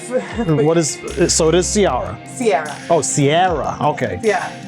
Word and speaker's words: Ciara: so forgive me my, And most people mispronounce it, and I never correct them because as long as it rhymes, it's close enough. so it is Ciara.